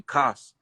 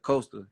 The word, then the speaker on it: Coasta: name they'd say something they'd call me cost instead of coaster you sent me and